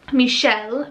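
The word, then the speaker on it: Mishel: I'll totally share it, but it is a little bit hard to pronounce for English speakers. So Lin with L-I-N. I think that's cute. Michelle, but it's M-I-S-H-E-L, like more of a phonetic spelling.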